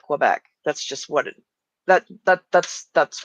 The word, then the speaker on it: Quebec: Well, anyone who doesn't say it in the French way is going to call it Quebec.